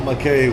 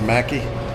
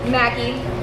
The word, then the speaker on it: Mackey: So, it's not McKay. We've been saying it wrong. It's Mackie. Mackey.